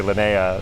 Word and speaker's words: Linea: where they say Linea there's a part of Italy where they say Linnea so it really does it just depends and then it's also